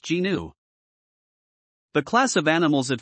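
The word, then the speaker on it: gnu: kanakit's tyranus it is also referred to as a new pronounced genu the class of animals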